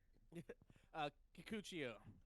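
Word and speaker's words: Kikuchiyo: Kikuchio.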